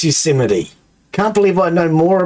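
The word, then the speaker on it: Yosemite: he got up and he doesn't even know Euseite Park watching an interview. He doesn't even know how to pronounce the guy's a freaking Even I know it's Euseite.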